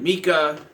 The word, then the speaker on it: Micah: A couple, Katie and Mika, even though it's spelled Micah, and the actor says it Mika, it's really weird.